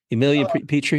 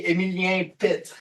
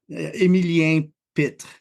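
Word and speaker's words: Emilien Pettit: Emilien Petrie? No. In French, it would be Emilien Pitt.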